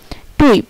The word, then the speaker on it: Typ: ওয়াই, ওয়াই এর উচ্চারণ উই এর মতো হয়, ওয়াই এর উচ্চারণ উই এর মতো হয়, যেমন টুইপ, এই যে TYP টুইপ, টুইপ, এই যে উই, টুইপ।